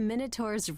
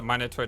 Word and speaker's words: Minotaur: Is the Minotaur dangerous? Minotaur, Minotaur, can pronounce either way, by the way.